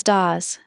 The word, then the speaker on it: das: Pronounce das as das.